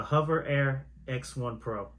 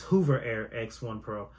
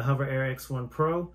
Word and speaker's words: Hover Air X1 Pro: back with another video this week about the hover air X1 Pro let me start by apologizing because in my previous video I was pronouncing it as Hoover Air X1 Pro I apologize to the manufacturer z00 robotics for